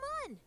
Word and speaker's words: Mun: Now you're a moon of the Mun. Ha! Okay. And even though I know it's supposed to be pronounced Mun, I refuse to call it that.